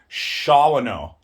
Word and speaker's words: Shawano: So there was Shawano. Ooh, Shawano. The white folk Wisconsinites pronounce it Shawano.